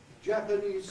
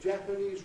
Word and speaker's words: Japanese: upstairs loo, inside information, Japanese sandman will help you. Notice the stress has moved over, it's gone from the second syllable of Japanese. If you say Japanese writing, lose that stress.